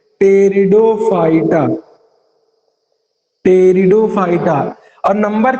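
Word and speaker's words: Pteridophyta: टेरिडो, टेरिडो की spelling start होती है पी से, टेरिडोफाइटा।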